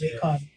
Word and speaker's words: Laycon: It's Laycon.